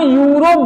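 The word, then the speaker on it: Europe: अगर हम कहें यूरोप, इसे हम यूरोप बोलते हैं, लेकिन स्पेलिंग में ई से स्टार्ट है, तो अगर हम अंग्रेजी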